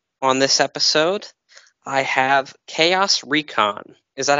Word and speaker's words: ChaosReacon: and with me on this episode i have chaos recon is that how it's pronounced yep okay that's what i figured well